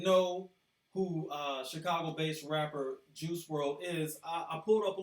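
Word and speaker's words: Juice WRLD: professionally as juice world pronounced juice world I guess the O was left out in spelling was an American rapper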